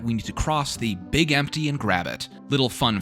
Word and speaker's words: Big MT: need to cross the Big Empty and grab it. Little fun fact I learned, it's called the Big Empty because morons pronounced Big MT, like Big Mountain as Big Empty.